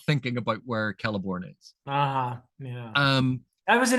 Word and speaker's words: Celeborn: Celeborn. Yeah. Yeah. I always, I don't know why I do that. Just think Celt. Hard C, Celt, Celeborn.